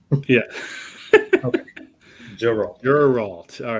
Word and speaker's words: Geralt: I think Ian this is the way we pronounce it, Geralt. Yeah. Okay, Geralt.